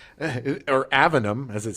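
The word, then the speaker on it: Aveum: Or Avinum, as it says. Is it Avinum or Avium? No, that's why I'm looking. No, it's Avium.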